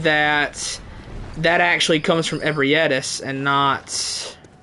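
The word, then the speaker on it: Ebrietas: Bro, I have seen some absolutely awful pronunciations of Ebrietis. I saw one guy in a YouTube short call her Beatrice. I was like, what in the world? How do you get a Beatrice out of that?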